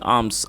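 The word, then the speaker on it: alms: What cash he गॉट इन आर्म्स, आर्म ये एल एम एस है, इसके अंदर एल साइलेंट है, जिसे आर्म्स पढ़ा जाता है, इसका मतलब होता है भीख।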